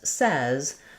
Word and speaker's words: says: you know and you can picture it as says.